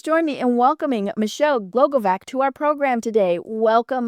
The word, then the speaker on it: Glogovac: So Michelle Glogovac, I love, it actually is sounded out exactly like it is spelled. So Michelle Glogovac is the Podcast Matchmaker,